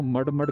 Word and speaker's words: Mud: Actually मैं बार बार इसको मड कर रहा था, लेकिन दिस इज मुड, राइट प्रोनाउंसिएशन इज मुड।